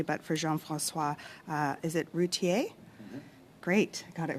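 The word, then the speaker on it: Routhier: in, so I want to make sure I've pronounced it correctly, but for Jean-François, is it Routier?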